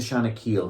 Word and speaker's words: Shanakiel: from there no not the bon secours it rhymes with panna panna shanak we took him up to shanakiel hospital that's where yeah third time lucky the